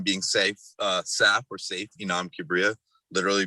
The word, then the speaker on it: Saif: Most people who do have the same name would say safe.